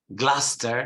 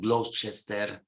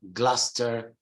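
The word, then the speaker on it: Gloucester: we spoke about this gluster not gloss Chester it's like Lester gluster Musta Worcester Worcester not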